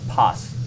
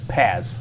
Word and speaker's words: Paz: I guess I've been saying it wrong the whole time, PAZ instead of PAES. I've Americanized the satellite name.